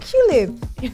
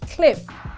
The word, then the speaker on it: QLIP: oh culib no no no no it's pronounced cliff and not qlive cliff cliff is africa's number